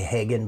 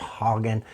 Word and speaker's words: Hagen: I want to say Hagen, but it's pronounced Hogan.